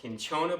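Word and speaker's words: cinchona: a lock on the i think it's pronounced kinchona bark the stuff that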